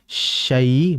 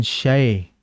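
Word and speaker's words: الشيطان: Jadi syai bukan syai. Jadi cara agar jelas vokal inya sebagaimana dijelaskan oleh al Imam athi dalam kitabnya ul mufid beliau mengatakan wadun khifadin bin khifad lil fami yaitu cara menjelaskan harakat kasrah atau vokal i itu dengan menurunkan rahang auzubillahiminasyaitanirrajim asyai nah ini rahang ini ke bawah asyaitanirrajim. Jadi dijelaskan syai bukan syai ya.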